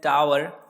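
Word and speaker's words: tower: जो ब है ना, ये W ये साइलेंट होता है, इसलिए इसको हम इंग्लिश में टावर कहते हैं, और टावर में से जो बा है वो थोड़ा सा साइलेंट हो जाता है, तो एक्चुअली ये टावर बन जाता है।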